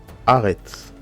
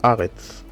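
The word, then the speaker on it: ארץ: Aretz. A. Aretz.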